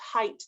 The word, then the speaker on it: height: It's pronounced height. The GH is silent.